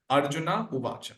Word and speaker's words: Arjuna: help of visi it's we actually pronounce it as Arjuna not so there is